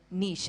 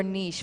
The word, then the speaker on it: niche: we hear the word Niche I feel it's mispronounced so many times it's nich nich but it's actually find your Niche Find Out Who Your